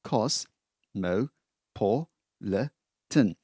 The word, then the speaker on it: cosmopolitan: Cosmopolitan, well, a long word, cos-mo-po-le-tan. 5 syllables, cosmopolitan culture.